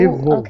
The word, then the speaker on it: evolve: Ooh, Evolve. okay. Evolve. Evolve. Okay, so the E is pronounced just like the letter, so it's evolve.